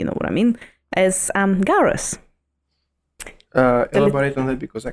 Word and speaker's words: Gaura: what I mean, as garas. Elaborate on that, because I can't remember who are they. Garas? If you or goros, like people pronounce it differently, if you Google it, Gaura.